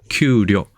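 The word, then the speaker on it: 給料: 네, 옆에 보시면 급료, 급료도 우리랑 같은 거죠. 발음만 좀 다르죠? 규료.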